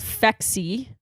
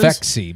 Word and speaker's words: Phexxi: start having sex, and it is it's called Phexi. I don't actually know how you're pronouncing Phexi, but it's PHEXI.